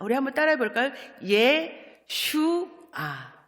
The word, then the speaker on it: 예슈아: 예슈아. 발음이 조금 어렵죠?